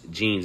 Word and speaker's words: jeans: to rain or water we also have Los jeans this is a unique one because you don't actually pronounce the h the way you typically would